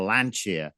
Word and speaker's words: Lancia: This was the year of Lancia, or Lancia is the correct pronunciation, isn't it?